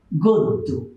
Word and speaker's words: গদ্য: আদ্য অয়ের পর জফলা থাকলে ও হয়। তো একটা উদাহরণ দিলে বিষয়টা আরো ক্লিয়ার হবে। আমরা যদি লিখি গদ্য, উচ্চারণ কি হবে? গদ্য।